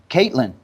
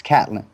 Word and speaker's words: Catlin: not know something about Caitlyn it's like my name is Catlin man it's Catlin just how it's spelled so point being is